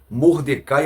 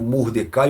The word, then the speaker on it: Mordecai: eu vou dizer aqui mardoqueu é a pronúncia do nome dele no português Mordecai no hebraico então não interessa se e eu digo Mordecai ou mardoqueu os dois estão correto tá então esta uma